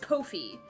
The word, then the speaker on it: Ko-fi: It's apparently pronounced Ko-fi, for the record.